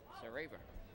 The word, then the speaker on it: Sareva: Rhymes with Chuck Paver, the Gulls GM. That's how I remembered his name, Sareva.